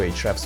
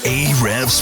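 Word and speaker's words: Ahrefs: and you're listening to hre's podcast A's podcast um it's actually pronounced hre oh sorry my bad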